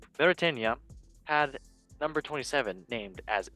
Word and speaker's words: Mauritania: Mauritania. Yes, nice country. And the Lions released, and interesting enough, I don't know if this is a error or this is his name. Mauritania had number 27 named as AK-47.